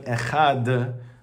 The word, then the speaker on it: Echad: the Gemara says that you should pronounce the Dalit and make sure that you bring out the Dalit, and this is brought down in the Shulchan Aruch, right? You have to actually pronounce out the Dalit. Why? So it doesn't sound like a Resh.